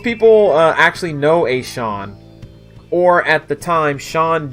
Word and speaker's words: Sean: very good track mm-hmm my older brother pronounced Sean from Battle Network like scene I I did that too listen there's two vowels right next to each other and the E comes first a reasonable mistake right most